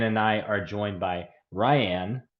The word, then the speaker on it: Riane: I are joined by Ryan pronounced like Diane who is coming off